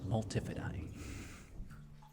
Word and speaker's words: multifidi: It's spelled like multifidi, and I wish it was pronounced multifidi, because that's how I know. But it's multifidi.